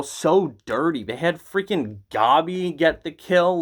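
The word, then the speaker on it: Gabi: into a gobby rant also why isn't it just pronounced gabby like why god he sounds like a pokemon um but anyway the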